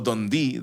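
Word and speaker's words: Dundee: En Dondi, Escocia o Dondi se pronunciar así en 1655.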